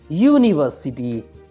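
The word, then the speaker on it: university: हम पढ़ते आए हैं, बट यहाँ पे यू इसका प्रोनाउंसिएशन य हो रहा है, यूनिवर्सिटी।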